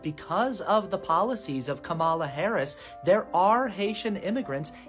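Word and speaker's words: Kamala: of the policies of Camala Harris there are Haitian immigrants eating cats and dogs in Springfield Ohio just to clarify that is a lie and also her name is pronounced comma well we also agreed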